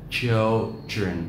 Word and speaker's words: children: Children. Trọng âm rơi vào âm tiết thứ nhất.